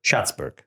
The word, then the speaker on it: Schatzberg: In today's episode, I have a fascinating guest, Peter Schatzberg. Did I pronounce it right?